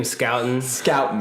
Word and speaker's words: Scouton: Just to update on last week's podcast, it's Jim Scouton. He is on the radar, everyone. With no one knew. There's not a sh or anything. It's just it's a hard C in his name.